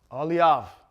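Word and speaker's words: אהליאב: ah sound and then we end it off with a vet which makes a v sound ah leave that's how you say his name in hebrew all right aliav okay all right that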